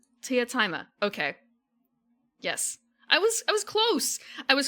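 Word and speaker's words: Teatime: I know it's how it's spelled. Teataime. Teataime.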